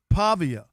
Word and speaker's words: Pavia: Pavia.